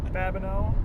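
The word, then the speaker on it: Babineaux: Rhymes with no. Yes. Babineau.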